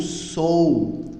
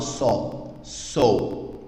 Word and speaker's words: so: Por exemplo, esse O aqui vai ter um som diferente, que vai ser um som de O, tá? Não falo só.